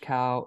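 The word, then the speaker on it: Kao: my name is cow I've done this all my life that's why I know what I'm talking about my name is that's spelled k-a-o I say that as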